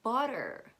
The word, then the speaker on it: butter: the same exact sound you can see that it's written water with tea or butter with double tea but in the american accent we don't pronounce those teas it's water and butter that's all for today